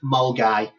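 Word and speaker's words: Milngavie: It's a place called Mulgai, which is written Millingavi. So it's pronounced Mulgai, and it's absolutely beautiful.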